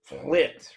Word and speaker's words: Plitt: And we're very lucky, privileged, and good to have Plitt, right? Rhymes with shit on our on our podcast today.